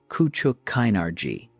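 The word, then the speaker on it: Küçük Kaynarca: The treaty of Kuchuk Kinarji, the name pronounced roughly as Kuchuk Kinari signed after a war in which the Ottoman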